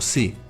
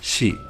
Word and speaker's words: 시: Otro caso especial es la sílaba shi, que no se pronuncia como si, se pronuncia como shi.